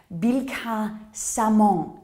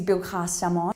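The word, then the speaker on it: Billecart-Salmon: Bilka-Samon is the correct pronunciation, more often referred to as Billicart. It is Bilka-Samon.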